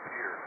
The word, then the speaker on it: Pierre: It's pronounced Pierre.